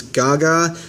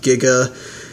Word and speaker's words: Giga: part in the back is Gaga um it's a translation error it is pronounced Giga we have what it